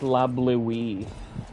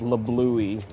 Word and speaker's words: La Bleuie: When I was younger, that's how it's pronounced. I never listened to the dialogue, so it's La Bleuie, because I just call it La Bluey whenever I play through the game.